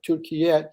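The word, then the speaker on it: Türkiye: Yeah, if you could do the call from Turkey next week, or Turkiyet, is that what you called it?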